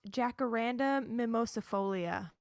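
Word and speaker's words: Jacaranda mimosifolia: read it yeah okay it's pronounced Jacaranda mimosa folia but that doesn't matter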